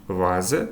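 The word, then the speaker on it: Vase: Фау. Вона може вимовлятися як, а може вимовлятися як в в залежності від слова. Приклади. де фогель - птах, але дій вазе ваза дас відео відео.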